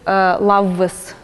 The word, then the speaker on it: lavvas: And then also this lauka, such a form is found in the scientific literature, but it's actually not how it is pronounced in these Ingrian varieties. It's pronounced totally a different way, lavvas.